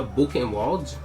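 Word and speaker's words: Buchenwald: um campo de concentração como concentração se chama book molde que assim se pronuncia é esse foi um dos maiores campos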